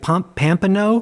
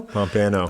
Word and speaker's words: Pompano: They can't even pronounce pompo correctly. They're like pomp pampo. Pompano pompano.